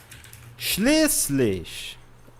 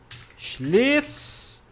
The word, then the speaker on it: schließlich: Outra coisa que enrosca a língua de vocês é schließlich. Pronúncia. Schließlich, tá? Schließlich, não tem muito mistério. Este símbolo aqui significa, tem o som de dois S's.